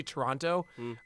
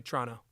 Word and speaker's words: Toronto: You just have to forget there's a middle-- It's like saying-- People say Toronto, never been to Canada, you can tell. You gotta say Toronto, just drop that middle-- - That's just called being efficient.